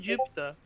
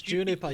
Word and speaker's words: Juniper: pronounce is it because I said Jupiter it's Juniper you miss the end I'm sorry but and